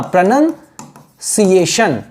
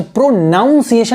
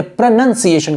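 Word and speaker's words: pronunciation: प्र ना और ना, प्रोनंसिएशन, प्रोनंसिएशन, प्रोनाउंसिएशन नहीं कहेंगे, प्रोनंसिएशन कहेंगे।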